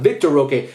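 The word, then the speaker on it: Vitor Roque: Victor Roque.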